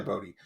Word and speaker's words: Bode: see like what and it's probably bode because the way it's spelled i i called him bowed when i was reading it in my head but you're probably right it's probably bodhi um we even see